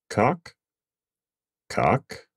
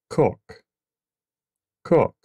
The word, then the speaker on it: cock: In the United States, we would just say cock, cock. In Britain, they might say cock, cock. Based on context, really wouldn't matter too much which way you say it.